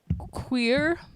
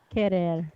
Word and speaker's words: Querer: Elma Queer. Tasha, how do you say that? Querer.